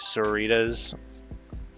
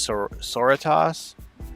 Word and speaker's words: Sororitas: The Adeptus Sororitas. I always thought it was Soritas, but it's like Senorita. At least that's what the narrator says.